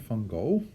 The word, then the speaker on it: Van Gogh: So Vincent van Gogh, or actually his real name is Van Gogh, because he is Dutch, comes from the same country as I do, and that's how we pronounce his last name, Van Gogh.